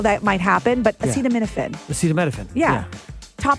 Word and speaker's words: acetaminophen: And then acetaminophen made the list because, President Donald Trump mispronounced it.